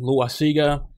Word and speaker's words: Loaisiga: I mean, Loaisiga, people pronounce his name Loaisiga, is a great choice to experiment with.